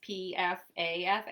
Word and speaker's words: Pfaff: It's Pfaff, and they said, is it Pfaff or Pfaff? I'm like, it's the P is silent, like in pterodactyl.